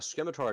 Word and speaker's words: scimitar: If I'm correct, a scimitar attack, which triggers a scimitar attack and a trident attack. Scimitar, you do not pronounce the C.